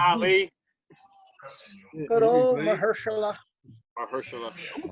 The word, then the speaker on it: Mahershala: Damn you, Mahershala Ali. Good old Mahershala.